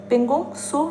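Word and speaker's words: Pangong Tso: है पोंग सो झील मैंने बताया था त साइलेंट रहता है तो ये त और सो है ठीक है पोंग सो झील इसे बोलते हैं पोंग सो झील आपको पता है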